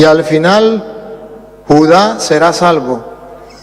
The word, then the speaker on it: Judá: Y me buscó en el Antiguo Testamento donde decía, y al final Judá será salvo. Y él leía Judas, al final Judas será salvo. Le dije, no hermano, aquí dice Judá, tiene acento en la ignorancia, es atrevida